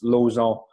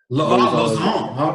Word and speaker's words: Lauzon: I usually pronounce it like the way I speak is I'm French, like I'm Canadian French. Okay. So we pronounce Lauzon. Lauzon.